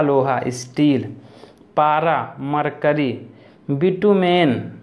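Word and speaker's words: bitumen: steel पारा mercury ES बिटूमेन बिटूमेन तो बोलते हैं बिट्टू में नहीं भूत तांबा मींस भूरा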